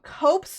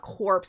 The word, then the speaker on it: Cope's: Wait, no, I'm saying it wrong. Cope's gray. Okay, it's not corpse.